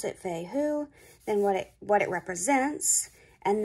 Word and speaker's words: Fehu: Put the name, Fehu, how to pronounce it, Fehu, then what it represents, and then kind of what it means.